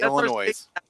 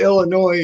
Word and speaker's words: Illinois: yeah you go to Illinois and say Illinois someone's gonna jump your ass for say putting that s on into Illinois know French and Indian word so you don't pronounce the S just like just like